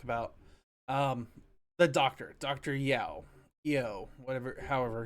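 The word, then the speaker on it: Yueh: Um, the doctor, Doctor Yeo, whatever, however it's Oh, pronounced. Doctor You.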